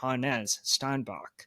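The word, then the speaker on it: Hannes Steinbach: Germans, yeah, Hanes, I I guess we've been saying his name wrong. Oh, yeah. Well, you need to tell me next time you go to a Husky basketball game, but on the broadcast they're saying Hanes Steinbach.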